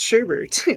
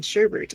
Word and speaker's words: sherbet: learned that sherbet is not pronounced sherbet that there's no second r in sherbert i've always called it